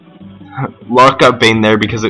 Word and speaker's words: Locke: Yeah, I really need to start pronouncing Lock properly. I've called him Locky ever since I was, like, really young, so that's why I keep doing that. Locke got Bane there because it was a counterattack.